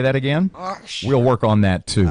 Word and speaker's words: Ochsner: Ochsner.